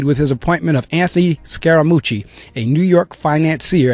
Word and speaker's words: Scaramucci: nonsense anymore so now Donald appoints this Anthony scaramucci I guess that's how that looks like how you say it I'm almost sure that's how you say it scaramucci s c a r a m u CCI